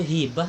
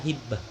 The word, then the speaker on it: hibah: Yang benar itu hibah apa hibbah. Kebanyakan mengatakan hibbah, itu salah.